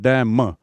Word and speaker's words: damn: DAMN और उच्चारण है डैम, ना जो है साइलेंट है।